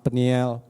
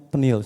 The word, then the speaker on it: Peniel: GSJA Charismatic Worship Service, yang saya beri nama Peniel Fluid. Tahu Peniel? Seringkali jemaat salah nyebutnya, termasuk istri saya juga. Dia sebutnya Penil, saya bilang bukan Penil, bacanya Peniel.